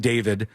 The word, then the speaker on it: D4VD: to say, it's about a guy named David, even though his name is spelled like D4VD or whatever.